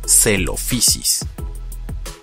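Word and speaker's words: Coelophysis: Por ejemplo, PH se pronuncia como una F suave. Ahora, combinemos lo aprendido con este género. Ahora sabemos que se pronuncia celofisis.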